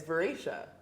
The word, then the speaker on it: Vera: a problem um and he pronounced my name incorrectly and I said it's Vera and he said sorry